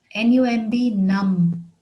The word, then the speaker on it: numb: look for his necklace another word is num numb which means deprived of the power of physical